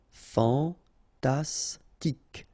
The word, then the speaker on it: fantastique: Okay, Q-U-E at the end, K. Okay, tic. Fantastique.